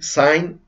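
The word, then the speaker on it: Dasein: eso significa allí y sainz que en alemán se escribe s&n pero el diputado y se pronuncia como hay como en einstein con esas dos e y se pronuncian como hay einstein pero bueno si tienes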